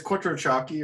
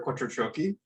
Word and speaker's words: Quattrociocchi: It's Quattrociocchi or Quattrociocchi.